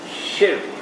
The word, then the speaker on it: shirk: woman that is shirk notice how i pronounce the word did you notice i said shift that is the only correct pronunciation if you pronounce it differently you're disrespecting the quran remember that the child